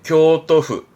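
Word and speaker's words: 京都府: 발음은 오사카후. 그리고 네, 교토후.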